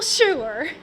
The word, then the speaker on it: Shure: Simple Shure. Shure. Yeah, it's spelled it S-H-U-R-E.